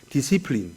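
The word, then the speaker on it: discipline: 제자 훈련은 동사로 하면은 디시플린 그래요. 디시플린. 디사이플 발음하지 않고 디시플린. 저는 어릴 때 중학교 1학년 때 배워가지고 지금도 잊지 못해요. 발음이 달라. 디사이플.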